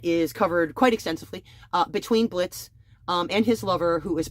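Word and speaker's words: Blitzø: In this one, we're following an imp character called Blitz. The O is silent.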